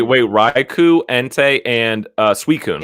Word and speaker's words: Suicune: susan except susan like s-u-i is pronounced sue and then the c-i-n-e is sin susan but everybody said suicune and we're like i